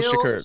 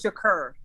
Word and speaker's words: Shakur: Yeah, like How do you pronounce it? Like Khalil Shakur. Shakur. Tupac Shakur. It's like Okay. SHA.